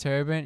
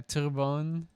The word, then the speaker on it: Terrebonne: They have a riding pronounced Turbine. Yeah, Turbone.